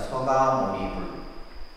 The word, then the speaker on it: 석가모니불: 그래서 우리가 이제 이게 이제 불이라고 하는 부처님을 이렇게 붙여서 서가모니불 이렇게 하잖아요. 그죠? 실제 이제 석가모니불 우리가 발음할 때는 그냥 기도할 때는 서가모니불 석가라고 했을 때 이제 이 샤카족을 한자로 쓰면 이렇게 돼요.